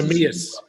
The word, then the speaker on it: Neemias: Monty, the Portuguese, Neemias, I hope I'm saying this pronounced. Neemias.